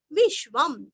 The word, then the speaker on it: विश्वं: विश्वम वीरस्व अश्व का श्व विश्वम अनुस्वार का उच्चारण आधा म।